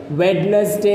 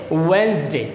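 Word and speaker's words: Wednesday: एक pronunciation of वेडनेसडे इस वेडनेसडे इसका सही उच्चारण क्या है वेडनेसडे है वेडनेसडे नहीं होता बट 99% स्टूडेंट इसका गलत उच्चारण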